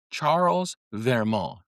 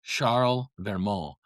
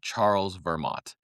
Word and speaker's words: Charles Vermot: And his name was Charles Vermo. And it's actually pronounced in French, I believe, Charlmal. And it looks like Charles Vermont.